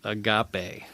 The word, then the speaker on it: Agape: It's pronounced Agape. Agape.